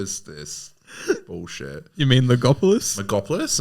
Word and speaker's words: Logopolis: Megopolis. Sorry. Fuck me. What is this? Bullshit. You mean Legopolis? Megopolis? Am I saying it wrong? No M. Legopolis. Stop putting an M there.